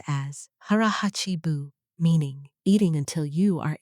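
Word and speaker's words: hara hachi bu: The first thing, hara hachibu, pronounced as hara hachibu, meaning eating until you are 80% full and then stopping, not out of discipline, out of biology.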